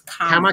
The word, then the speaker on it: Kamala: Did I say her name right? Kamala. No, it's Kamala.